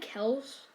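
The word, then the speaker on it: Kelce: holmes fumbled on that play but he had kells and yeah that is how you pronounce it i already know there's gonna be controversial but um travis kels is what i'm gonna call him uh he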